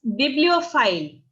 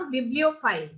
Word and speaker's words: bibliophile: हाँ, इट्स बिब्लियोफाइल। बिब्लियो, अपन लियो बहुत clear नहीं बोलना, बिब्लियोफाइल, बिब्लियोफाइल, okay ma'am, okay thank.